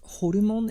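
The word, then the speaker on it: ホルモン: I also like, it's pronounced horumon in Japanese. It's like the intestines of a pork. I do apologize if this sounds disgusting to anyone, but it's called hormone or something like that.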